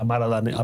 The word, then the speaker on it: Amara La Negra: That's how you pronounce that. Amara La Negra.